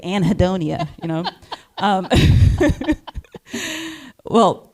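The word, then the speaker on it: anhedonia: What is anhidonia? Did I say it right? Yes, you did. Thank God. Some people like to be fancy, but they say anhidonia, right? But I'm from Jersey, so I say anhidonia, you know.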